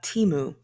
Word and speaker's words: Temu: talk to you about Teemu that's how I pronounce it and everybody's saying